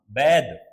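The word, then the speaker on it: bathe: बैदिंग बोल रहा हूं, बैद, देखो बाथ नहीं, बाथ का मतलब होता है स्नान, और बैद स्नान करना।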